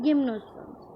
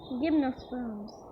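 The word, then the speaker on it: gymnosperms: मैं क्या पढ़ रही थी? गिम्नोस्पर्म्स। इसलिए कभी भी प्रोनाउंसिएशन देखना चाहिए। Okay, जिम्नोस्पर्म्स।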